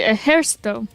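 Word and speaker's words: Ejército: I should be Ejercito because of the accent. That's how it would be pronounced.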